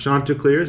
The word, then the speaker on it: Chanticleers: the chanticleers shirt listed i pronounced it wrong in the video but it's actually pronounced chanticleers i did some research